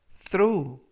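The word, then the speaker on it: throw: 표현은 드로우 20 스로우 라고 발음 하시면 되겠고요 이때 th 는 번데기 발음 끝 그 품사는 동사 뜻은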